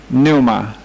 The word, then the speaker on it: pneuma: Ok, después tenemos espíritu, pneuma, P-N-E-U-M-A, P-N-E-U-M-A. Lo siento si no te gusta el hecho de que estas palabras comienzan con P pero no se pronuncia. Lo siento mucho. Pero hay que culpar los griegos, no a mí.